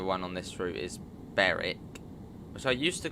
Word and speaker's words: Berwick: and the other one on this route is Beric which I used to call Berwick I used to there's Beric whereas the northern